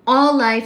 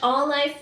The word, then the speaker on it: Auelife: So, um, All Life Store is the sponsor for tonight's live and that is spelled as a U E L I F E.